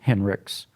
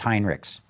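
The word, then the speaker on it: Hinrichs: say it's just 65 ish that gives Farley Henrik's because that's how he pronounces it everyone says Heinrichs but he had arrested me Henrik's and and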